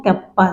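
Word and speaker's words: κ: Specific conductance को हम ऐसे के से डिनोट करते हैं और इसको प्रोनाउंसिएट करते हैं कप्पा से।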